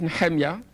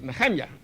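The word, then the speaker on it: נחמיה: in the book of Nehemiah I know how you pronounce him in your bed English I mean in bed Hebrew English perhaps good but it's not correct his name was Nahanni that I never kept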